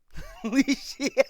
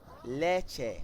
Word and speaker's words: leche: Leashy. Now that's completely wrong. And I know for a fact I wouldn't have said that. Leche. Like that.